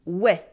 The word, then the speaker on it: oui: but we is more precise repeat after me we we we we we Anyway by the way